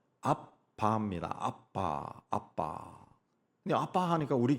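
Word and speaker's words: אבא: 아라 그랬 아 아버지 아라모 발음은 아바입니다 아빠 아빠 아빠 하니까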